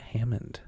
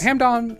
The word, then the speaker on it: Hamdon: his name's not Hammond his name's not Hammond I've said it wrong this whole video H rival rocket pencil ham hamon hamon I need you guys to know this took me like five tries to get his name right I've said it wrong